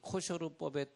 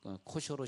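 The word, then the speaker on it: kosher: 이스라엘 백성들 중에서 이 코셔르법에 따르는 식당을 하는 그런 식당들이 있어요. 그럼 거기 그 식당 앞에 우리는 코셔르 식당입니다. 영어로는 코셔 그러고 이스라엘 사람들은 코셔르 그러는데 알 발음이 나가지고요.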